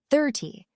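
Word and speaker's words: thirty: The trick is the stress. 13. The stress is on the end. 30. The stress is on the beginning.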